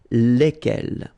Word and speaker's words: lequel: so it goes like lequel all right and then the feminine form so singular we saw it lequel okay so basically same rule q is not pronounced here and then you get